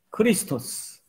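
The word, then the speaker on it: Χριστός: 좀 더 정확한 발음은 이게 헬라어거든요. 그 그리스 사람들은 예수님을 어떻게 발음했냐면 예수스. 그리고 그리스도는 크리스토스. 예수스 크리스토스.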